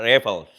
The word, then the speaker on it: Raffles: Dia sebenarnya kalau pronunciation-nya adalah Raffles, gitu.